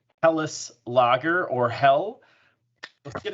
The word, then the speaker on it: Helles: be is my 6th Hell's Lager. Awesome. And what I've learned is that it's actually not pronounced Hells. It's actually pronounced Helles.